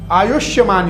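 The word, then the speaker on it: आयुष्मान: योग है आयुष्यमान योग आयुष्यमान योग आयुष योग नहीं बहुत लोग आयुष योग कहते हैं इसको आयुष्यमान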